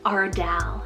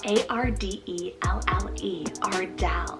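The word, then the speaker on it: Ardelle: new is the name ardell cell a-r-d-e-l-l-e isn't that pretty it's kind of like a fun take on the name adele ardell really different it means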